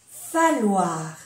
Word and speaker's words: falloir: Falloir. Falloir. Se pronuncia como una L.